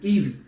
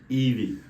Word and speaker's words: Yvey: how do you pronounce Eevee Eevee I saw the Y and the V I used to be like vessel yeah I didn't get it so eeve Eevee Eve it's like Eve you know Eevee Eevee so tell us